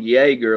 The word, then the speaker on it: Jaeger: I live it's uh it's called Jaeger like with a while like Chuck Yeager that brought the sound barrier okay yep but it's